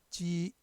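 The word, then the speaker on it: 擊: 칠격은 중국어의 발음, 입성이 발음 없으니까 지 발음이죠. 지.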